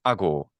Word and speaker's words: ago: And but however, it does not lengthen syllables that are stressed. So you Mm. can Mm. have something like ago, meaning I do, or I like this the related to the English word act.